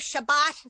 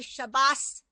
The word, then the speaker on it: Shabbat: ago yeah because they'll say instead of Shabbat they'll say shabas abas Mitzvah instead of bat mitzvah EX exactly exactly Nancy